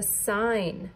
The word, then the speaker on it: sign: Number five is a sign, a stop sign. How would you spell sign? S-I-N. Sign. S-I-G-N. Remember, G-N makes the N sound.